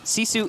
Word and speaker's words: GiFu: those of you unfamiliar Sisu is spelled gif view so that's what we're pronouncing right now you know that's